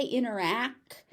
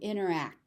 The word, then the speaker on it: interact: If you say interact, it doesn't land quite right. So interact. If you want to aspirate it and pronounce it as interact, that's fine. But if you just want to say interact, that's also fine.